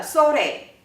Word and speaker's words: sore: 我们来听一下 ayo，好，那下面一个 O 呢，就是那个 sore 那个例子，这个 O